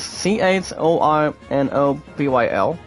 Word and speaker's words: Chornobyl: It's pronounced as CHORNOBYL.